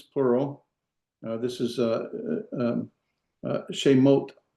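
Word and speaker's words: שמות: This is shemot, right? Shemot, 2 syllables, 1 vowel, 2 vowels, 2 syllables.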